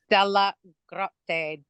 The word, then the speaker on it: DellaGrotte: Yes, it's DellaGrotte. DellaGrotte is how it's pronounced.